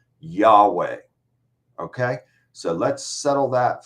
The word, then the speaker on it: Yahweh: the Christian Church testified that the name was pronounced Yahweh okay so let's settle that for right now